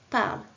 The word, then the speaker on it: parlent: Deuxième phrase, au singulier, un élève parle, au pluriel, des élèves parlent. Là aussi, j'ai rajouté un N et un T que je n'entends pas.